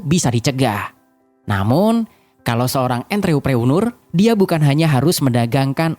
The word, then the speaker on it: entrepreneur: Entrepreneur kurang lebih dibaca N, seperti membaca N dalam kata encok. Treu, pengucapan huruf E seperti pengucapan huruf E dalam kata teman. Preu, pengucapan huruf E seperti pengucapan huruf E dalam kata pesawat. Dan nur dibaca seperti kata nurani.